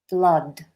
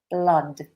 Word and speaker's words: blood: But blood is a different vowel. It's a short vowel. Blah, blood, blood.